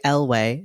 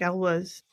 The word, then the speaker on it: Elwes: It stars Carrie Elway. Is that how you say it? I think Elwes.